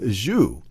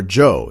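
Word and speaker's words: Zhou: battle of muyie against king wu of zhu or joe is actually the correct pronouncer king wu of joe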